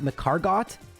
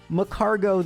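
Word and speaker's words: Magcargo: Isn't that macargot? But no, because escargo is a French loan word, the T is unpronounced.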